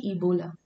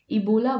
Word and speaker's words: Ebola: a bowl of spaghetti so the way you pronounce it see ebola ebola virus bold it sounds like a bowl so